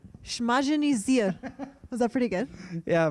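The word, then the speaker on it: Smažený sýr: Smažený sír. One more time. Smažený sír. Smažený sír. Was that pretty good? Yeah, but the pronouncing in Czech is really hard for you.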